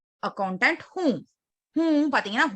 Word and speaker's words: हूँ: Okay, நஹி நஹி மே menu பாத்தீங்கன்னா மைன் அப்படின்னு வந்து ரொம்ப அழுத்தி அந்த டாட்டை ப்ரொனவுன்ஸ் பண்ணக்கூடாது. மே அவ்வளவுதான். ஓகேவா? அது வந்து அப்பதான் கொலோக்கியல்ல கரெக்டா இருக்கும். ஓகே, மே அக்கௌண்டன்ட் ஹூம். ஹூம் பாத்தீங்கன்னா ஹூன்னு அப்படின்னு பண்ணக்கூடாது.